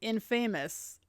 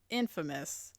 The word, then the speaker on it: infamous: It's irking me slightly that he says he is saying infamous because the word is pronounced infamous.